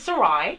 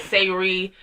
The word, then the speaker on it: Sarai: and your profession it's my name is Sarai Sarai Sarai it uh rhymes with psoriasis no I my goto but it gets with all the time I get Siri yeah that's what I've